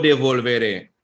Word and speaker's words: devolveré: Lo devolveré, accent on the E, mañana por la noche, right?